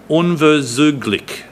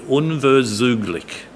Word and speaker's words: unverzüglich: will be very poor, but the German word that he used was unverzüglich, a 4-syllable German word, unverzüglich.